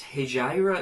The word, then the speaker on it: Hejira: Notable other uses of that tuning, I can only really think of, I think it's Hejira it's pronounced, by Joni Mitchell, which is this exact same tuning but down a whole step, so it starts in B.